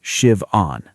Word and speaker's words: Siobhan: I'm Siobhan. It's pronounced shivon.